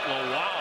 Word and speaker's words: Lowell: That's how you say it. Lowell, like wow, look at that leaping ability.